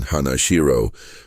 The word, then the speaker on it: Hanashiro: Likewise, the renowned karate master Chomo Hanashiro came to use the standard Japanese pronunciation Hanashiro, rather than the original Okinawan reading Hanagusuku.